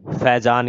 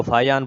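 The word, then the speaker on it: Fajans: हाँ भाई, फैजान के नियम बताते हैं। वैसे इसको फाइयान बोलते हैं भाई, फैजान तो इंशाल्लाह दूसरा नाम हो गया, वो तो रहने दो। फाइयान इसका असली प्रोनाउंसिएशन है।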